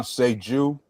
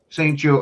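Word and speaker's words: St-Juste: Now I'm probably going to butcher his name, Benjamin Saint Benjamin Seju. Saint Jew. Okay. See, I would have been wrong with both pronunciations I tried to do.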